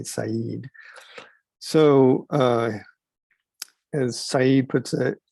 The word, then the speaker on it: Said: this author's name is i know it looks like the word said but is you will learn um edward syed is how you pronounce